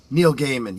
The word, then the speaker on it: Neil Gaiman: Neil Gaiman. Yeah, exactly. And you pronounce it correctly.